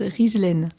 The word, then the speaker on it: Ghizlane: Et juste pour ton information, ça se prononce Rizlet. C'est d'origine marocaine, d'accord.